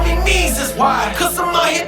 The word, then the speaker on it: Mesus: And I pronounced his name wrong. His name is Mesus.